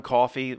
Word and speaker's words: Coffey: John Coffey, ma'am. Like the drink, just not spelled the same, ma'am.